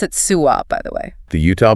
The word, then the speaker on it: SUWA: groups like The Southern Utah Wilderness Alliance they pronounce it suah by the way the Utah public lands Alliance